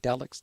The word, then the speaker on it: Delix: Well, I like what Lucy Delix. I'm mispronouncing her name. Delix, D-E-L. Yes, Yeah. that's correct. That's correct. Like psychedelic.